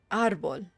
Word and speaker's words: árbol: Ar is the hard syllable. Árbol. Árboles.